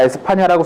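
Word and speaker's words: España: 사실 이거 스페인으로 쓸까 에스파냐라고 쓸까 고민을 굉장히 많이 했습니다. 현지 발음을 따르자면 에스파냐라고 해야 될 것 같은데 스페인이 워낙에 우리 입에 붙다 보니까 아무튼 그렇게 했어요.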